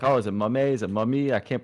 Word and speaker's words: mummAy: my name is pronounced mummy the a is actually silent and it's just for looks equip it guys clip